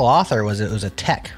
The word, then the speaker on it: TeX: and can called IT Tech even though it was teex is that right yeah he says it's the Greek pronunciation of the original word not not speaking Greek